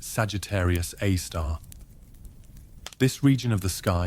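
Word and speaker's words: Sagittarius A*: super massive black hole known as Sagittarius A asterisk pronounced Sagittarius A star.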